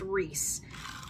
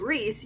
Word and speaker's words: Rhys: it's Reese it's Reese it is a Welsh name and it is pronounced Reese and if you don't pronounce it Rhys you are doing it